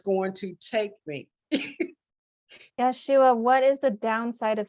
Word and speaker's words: Yeshua: Who else is ready to share with Yeshua? Well, I have a question, if that's okay to ask. And is your name pronounced Yashua? It's Yeshua, but Yeshua.